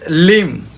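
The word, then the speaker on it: limb: না ডাউট নেক্সড মানে ঋণ থাকা ঋণ next লিম অঙ্গপতঙ্গ এল আই এমবি উচ্চারণ করব না ডাম বোবাডি ইউএমবিডাম বি উচ্চারণ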